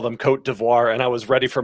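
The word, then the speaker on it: Côte d'Ivoire: I'm glad Brad talked first because I did not know we were supposed to call them Coat Devoir and I was ready for my Ivory Coast take.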